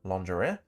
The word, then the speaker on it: lingerie: It says, at 1 minute 35, pronounces a very common English word, lingerie, completely wrong and phonetically as lingerie instead of lingerie.